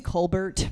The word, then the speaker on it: Colbert: cold air yes no yeah don't you mean Colbert no I've been saying it wrong this entire